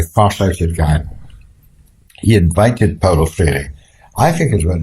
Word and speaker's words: Freire: People are not used to seeing the letters E-I in that order.